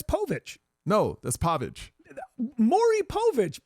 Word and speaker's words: Povich: it sounds not at all pv is not pavage it's pavage well first of I don't spell it POV I spell it pav pav yes that's p that's that's pavage Okay.